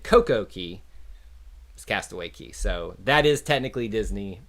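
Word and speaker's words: Castaway Cay: want to say that it's k when it's cay right i don't know everybody calls it castaway key that's i think it's spelled like it's spelled differently but it's castaway key is what it's supposed to is how you're supposed to say it that was the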